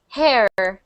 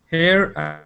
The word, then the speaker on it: her: there her her good I was hearing a little bit of hair care okay different pardon me what did you say I know it's different between between them here and her so the difference is we have hair and I know I know okay good so so make sure you're saying her um and and it's